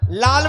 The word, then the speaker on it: লাল: এই নালটা কত? নালটা নালটা? লাল বলো, নাল কেন বলছে?